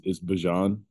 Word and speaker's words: Bijan: So how my mom, you know, pronounces it is Bijan. But like how I say it, I just say Bijan just because it's easy.